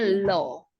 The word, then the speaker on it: law: kan Bahasa Inggrisnya apa Law ya bacanya lo Elo Kuenya nggak dibaca jadi